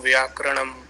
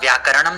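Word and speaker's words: व्याकरणम्: problems पहली problem देखिए जो लिखा है वैसा ही पढ़ना है क्या आपने देखा व्याकरणम लिखा है जो वो व्याकरणम तो नहीं लिखा है ना ण के ऊपर तो रेफ नहीं लगाया है मैंने ण के ऊपर र नहीं लिखा है ना र पूरा लिखा है ना नीचे तो उसका उच्चारण भी पूरा होगा तो शिक्षा कल्पो व्याकरणम बोलना है व्याकरणम नहीं बोलना है हो सकता है आप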